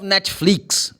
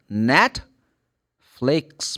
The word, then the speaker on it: Netflix: always fit Netflix man I love Netflix you like net flakes Man, that the stress comes the first syllable. It's not even n Netflix.